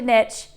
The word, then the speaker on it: niche: And the way that you do that is by having a really, really defined niche, which rhymes with rich.